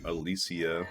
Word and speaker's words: Alicia: Alicia or um the Tomb Raider actress she pronounces her name Alisia I say Alicia cuz I have a cousin